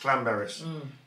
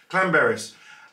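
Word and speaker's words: Llanberis: it i think it's clan berris clan berries it looks like lambert's but it's not yeah if you've got two elves in wales it's apparently clan berries and this is where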